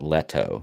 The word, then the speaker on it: Leto: So Cody says he always pronounces it Leto. So I'm assuming that's what he's saying, Leto, like spaghetti-o there.